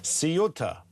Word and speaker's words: Ceuta: It's pronounced as it's written. Seota.